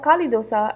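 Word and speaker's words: Khali dosa: the speciality here is the Cali dosa or Cali dosa as its pronounced in the south Cali means empty and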